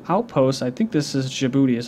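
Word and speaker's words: Djibouti: a French Colonial Outpost I think this is jibuti is how you pronounce it a tiny impoverished Nation just north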